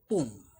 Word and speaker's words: poem: ठीक है, पोएम हम इंडिया में तो इसलिए हम इसे पोएम बोलते हैं, वैसे उसका एक्चुअल प्रोनाउंसिएशन जो है वो है पोम, राइट।